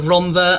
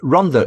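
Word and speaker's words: Rhondda: pronounced that way before double D is a different consonant in Welsh and it it's pronounced the it's R so every time you hear Ronda everybody in Wales 3.1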